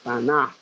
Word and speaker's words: Tanaj: hebrea o L tan l tanaj así se pronuncia tanaj declarando y exponiendo por medio de las escritura